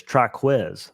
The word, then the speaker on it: Triquez: It is Triquez. It's like Jaquez, but Triquez.